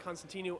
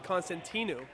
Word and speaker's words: Constantinou: Birnbaum a sophomore and Constantinou a senior, looking to win here. Pounds from Oliver Ames, Stavros Constantino, and from Sharon, Cameron Birnbaum. Sorry, Constantinou. Apologies if I was pronouncing the name wrong, but Birnbaum and Constantino are both tied up.